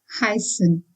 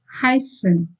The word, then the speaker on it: heißen: But now the focus here is on heißen, that is EI. Since I is the landing letter here, we need to pronounce this as heißen. As you see, EI is pronounced as I. Heißen.